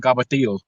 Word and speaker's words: cavatelli: And Sherry, how Italians say cavatelli? Well, New York Italians we call them cavatillo. That's how they say it.